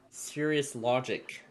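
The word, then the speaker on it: Cirrus Logic: It's pronounced it's spelled C I R R U S. Serious logic.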